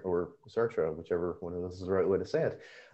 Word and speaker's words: Sartre: Well, Gary, that makes me think that my sort of bridge from Freud to Lacan was actually Sartre, or Sartre, whichever one of those is the right way to say it.